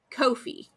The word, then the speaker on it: Ko-fi: GIF and was it Kofi coffee what is it because it's like buy me a coffee but it's k o dash f i Kofi which they said rhymes with no fee because it's like no